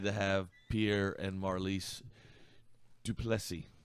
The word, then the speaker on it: Plessis: He taught me how to say his last name. He said, just say 2 plus 3 really fast. 2 plus 3? Plessis. Plessis.